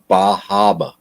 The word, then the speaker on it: Bar Harbor: Bar Harbor is not too far away. Excuse me, Bahaba.